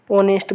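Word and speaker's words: honest: होएगा क्यों होएगा साथियों क्योंकि इसमें यह ए है जो साइलेंट वर्ड है क्या है साथियों एच है जो साइलेंट वर्ड है तो यह क्या हो जाएगा साथियों ऑनेस्ट बोलेंगे इसे क्या बोलेंगे ऑनेस्ट ठीक है ऑनेस्ट में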